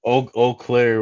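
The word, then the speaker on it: Eau Claire: Oakclair, Wisconsin, which I will tell you is spelled E AU and then Claire. I don't know how O comes out of E AU, but hey, let's roll with it, right?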